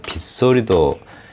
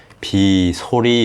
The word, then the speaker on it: 빗소리: 또 빗물 하니까 생각나는데 빗소리도 비소리 이렇게 나는게 아니라 빗소리 하고 나죠 그러면 b의 사이 숏이 들어갑니다 이렇게 비 소리가 아니고 빗소리 이렇게 나잖아요네 그 다음에 뒷말에 첫소리